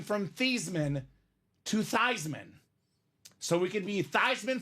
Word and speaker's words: Theismann: The proper pronunciation of this man's last name is not Joe Thiesman, is not Joe Theismann. Turns out it's Joe Theismann. Theismann.